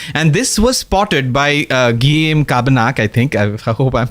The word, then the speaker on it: Guillaume Cabanac: Guillaume Cabanach. Guillaume Cabanach. Guillaume Cabanach.